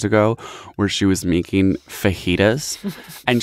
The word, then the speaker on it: fajitas: where she was making fajitas and she kept pronouncing it frajida so not even vagina like a good girl and then like three stories later she just started saying frighta and she's like putting